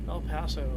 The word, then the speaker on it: El Paso: El Paso is how it's pronounced.